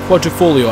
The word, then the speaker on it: Quadrifoglio: I think the G's silent, isn't it? Quadrifoglio.